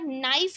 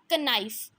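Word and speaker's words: knife: Word use करते हैं, बट उसमें के साइलेंट होता है और हम उसको क्या बोलते हैं, कनाइफ। तो मीन्स ये क्या है, एक वर्ड का लिमिट होता है, हम उसको कनाइफ नहीं बोलते, हम उसको नाइफ बोलते हैं।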